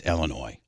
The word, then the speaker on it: Illinois: Like when I say Illinois, I know that it's Illinois. I know that's French and that the S is not. You're not supposed to pronounce.